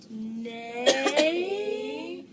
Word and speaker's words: neighbors: And then this is the tricky part, because just like the E was silent, the H is silent in it too, and so is the G. So neighbors.